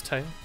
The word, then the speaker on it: Tewi: It's Tay. Yeah. Not Tewi. Just pronounced as T-E-I. I do not know what the W is in there for.